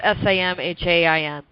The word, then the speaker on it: Samhain: But it's really based on an old pagan holiday, particularly a Celtic one, called Samhain. Now, some people pronounce it Samhain. I've seen Samhain. It's Samhain.